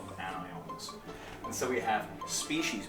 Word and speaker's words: anions: Negative charges, anions, I pronounce it anions when I'm teaching. Sounds like onions.